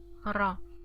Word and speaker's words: ر: This letter we haven't learned about yet, but this is pronounced like the Spanish ra. Okay, the Spanish r, ra, and it also has fatha, so ra.